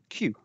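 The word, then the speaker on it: 九: Nine is ku, sometimes pronounced q.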